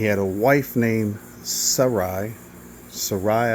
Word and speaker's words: Sarai: Sarai, I believe is how it's pronounced at that time.